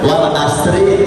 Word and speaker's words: والعصر: Soalnya selama ini kan saya aja biasa bacanya wal asri innal insana lafi khusri. Sebenarnya bukan asr. yang benar kalau saya stop harus baca wal asr sukun. Kalau wal asr itu bacaannya kalau kita bersambung ke ayat Ayat yang kedua.